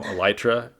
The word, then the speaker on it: Elytra: been so enjoyable having you on the podcast elytra and i've been butchering your name butchering your name for years so i'm glad we know it's now elytra uh we've you know this is actually my